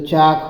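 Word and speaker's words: chalk: है ना आगे देखिए सी एच ए एल के सीच से चपरा मंत्र च होता है और एल साइलेंट है ल नहीं बोला जाएगा और के खाली लिखा जाएगा है ना तो चाक हो जाएगा ठीक तो चाक मीस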